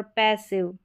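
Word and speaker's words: passive: यहां पर पैसिव, festive, सेंसिटिव, digestive, defective. यहां पर सभी में आई वी ई है। तो यहां पर आई वी ई में आई का उच्चारण इ करके होगा ना कि आई।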